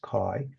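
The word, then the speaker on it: chi: The symbol of k square is k i square greek letter kai pronounced kai.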